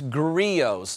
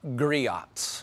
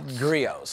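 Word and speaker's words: Griot's: when you say it's grios not griots okay grios okay the t is silent uh and the way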